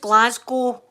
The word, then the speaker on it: Glasgow: You know, it's pronounced Glasgow. Glasgow. That's how we say it.